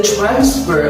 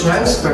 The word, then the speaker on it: transfer: if you write a sentence like these the transfer of property is successful then you are correct how about this one if you read the sentence like this i would like to transfer my key then you are wrong it should